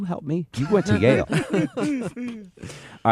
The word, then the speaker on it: Yale: a little place called yal oh excuse me that's Yale I mispronounced it he's a Yale grad